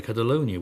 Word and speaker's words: Catalunya: going on in Catalunya I even pronounce that I think the way I'm supposed to we would normally say Catalonia wouldn't we but Catalunya where the Spanish government